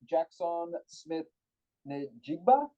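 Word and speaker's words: Jaxon Smith-Njigba: But I got Jackson Smith Njigba.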